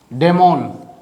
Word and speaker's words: daimon: अंदर ऑग्रे, ठीक, OGRE, डेमोन। दोनों के प्रोनाउंसिएशन सेम रहेगा, स्पेलिंग में डिफरेंस है, यहाँ DAIMON है, यहाँ DEMON है, ठीक।